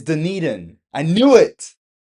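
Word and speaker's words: Dunedin: It's Deneden. I knew it. It's Deneden. No wonder nobody wants me to list their properties cuz I keep saying Deneden.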